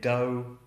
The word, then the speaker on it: dough: If it's a long O-U vowel, a diphthong, so you have O or ow, then the GH is completely silent.